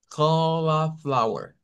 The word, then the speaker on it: cauliflower: Ok, no vayan a decir cauli, es cola, cauliflower, cauliflower. Girasol. Es la Corazón. coliflor, pero se pronuncia cauliflower, cauliflower.